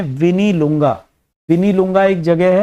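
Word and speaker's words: Mwinilunga: तो दरअसल ये स्थान शुरू होता है एम से, एम इसमें साइलेंट रहता है, तो हम ऐसे लिखते हैं एम विनी लुंगा।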